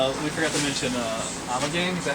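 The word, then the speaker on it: Ommegang: Yeah, it's We forgot to mention Amagang, is that how you right.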